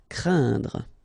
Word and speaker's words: craindre: So it's quite interesting here because you've got this combination of letters, so A, E, and then N, okay, so it will be a nasal as well, and then it will be pronounced like un. So keep in mind that it goes in your nose, so you don't hear any N when I pronounce it, un. And then C plus R will produce the sound cr, craindre.